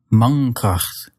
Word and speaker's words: mankracht: It'd be hard to pronounce that N in the front of your mouth followed by a K at the back of your mouth. Mankracht. And so instead, you'll make the N using the back of your tongue.